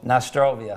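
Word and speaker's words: na zdrowie: Nastrovia.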